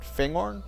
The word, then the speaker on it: Fangorn: tempting to to take fangorn sorry I guess it's not horn fangorn probably something like that bad habits I learned